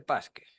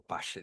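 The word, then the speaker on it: Paasche: Bueno, en la literatura está el índice de base móvil, índice Pasque, o Pache, depende de quién lo pronuncie.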